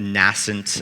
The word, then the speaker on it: nascent: at Sauce, still, but at the time, a nascent, that's the right pronunciation of the word, client.